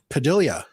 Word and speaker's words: Padilla: always been raypad yeah Filipinos pronounce their double L's differently um I don't know why but how do you pronounce it Padilla okay so um double